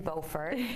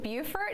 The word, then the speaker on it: Beaufort: They're spelled the same and pronounced differently. So what can you say? I'm guessing that maybe Beaufort is one of kind of the other characters in this latest novel.